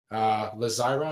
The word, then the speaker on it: Lazira: So this one here, Lazira, am I saying it right? Yeah, that's fine.